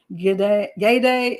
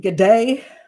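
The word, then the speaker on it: Guede: tried to find out the proper pronunciation yay day it seems to be supposedly the french pronunciation he's from ivory coast which speaks french um but i've also seen g'day like good day like the you know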